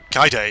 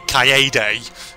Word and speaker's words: Kaede: Kaide, you're having a bit of a trouble. Oh, sorry, Kaede. You're having a bit of trouble on there. I keep mispronouncing it.